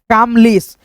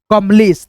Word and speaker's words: कमलेश: तो ये दोस्तों आ की मात्रा जो लगाए हैं ए से, ये हमारा गलत उच्चारण किया, तो यहां से आ की मात्रा नहीं लगेगा, केवल दोस्तों होगा आपका क म ले स कमलेश। तो ये आपका सही हुआ है ना।